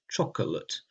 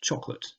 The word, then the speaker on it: chocolate: For example, the word chocolate is spelt like it has 3 syllables, chocolate, but it is normally pronounced chocolate.